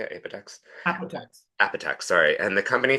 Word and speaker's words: Apotex: corporate affairs, business transformation, and strategic planning at Apotec. Is that how you say it? Apotex? Apotex.